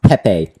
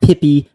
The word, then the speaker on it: Pepe: Me if I'm wrong, but it's pronounced Pepe. Not Pippy, not Pee, not poo poo.